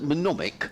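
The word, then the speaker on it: mnemonic: Lots of people have got in touch telling is a how do you pronounce it? Manomic. There's a manomic.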